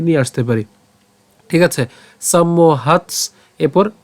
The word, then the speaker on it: সম্মোহ: এরপর ভবতি সম্মোহ, আমরা কি করেছি? প্রথমে একটা ম উচ্চারণ করলাম এবং বাকি অংশটুকু থাকে মোহ, আমরা মোহ উচ্চারণ করছি। তাহলে কিভাবে আমরা উচ্চারণটা করলাম? সম্মোহ, দন্তস্ব ম পর্যন্ত উচ্চারণ করলাম সম, এরপর হচ্ছে মোহ। ঠিক আছে, সম্মোহ। এরপর একই রকম ভাবে সম্মোহাত, সম্মোহাত।